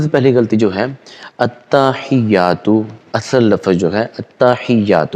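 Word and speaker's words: التحيات: جو ہے التحیات ہے، ہمارے دوست احباب اس کو پڑھتے ہیں التحیات، ہا کے اوپر زبر لگا دیتے ہیں، تو یہ غلط ہے۔ اصل میں جو حقیقت میں لفظ ہے التحیات ہے، یہ تلفظ ہے۔ دوسری جو غلطی کی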